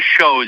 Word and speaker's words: chose: Or maybe a shows if you want to pronounce it more French.